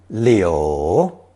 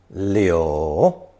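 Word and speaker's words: 柳: takes Mao as phonetic is pronounced third tone Leo Leo and that's the character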